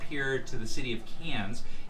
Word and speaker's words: Cairns: to the city of Cairns. It's spelled like Cairns, C-A-I-R-N-S, but it's pronounced Cairns. This is where the Great Barrier Reef is.